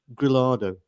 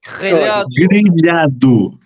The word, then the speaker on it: grelhado: How do you say grillado in Portuguese?